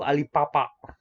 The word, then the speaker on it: Alibaba: Saya lupa Alibaba tuh dari mana ya. Tapi sebenarnya ini bukan Alibaba. Dibacanya itu Alipapa. Ba-nya itu sedikit antara B dan P.